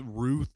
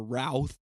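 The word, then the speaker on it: Routh: forgot to look up whether it's Ruth or ralth it's spelled like South with an R but Ryan Wesley Ryan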